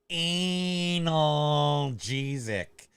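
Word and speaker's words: analgesic: watch wait hold up on the Wednesday it's pronounced anal jesic the reason you're not getting better uh is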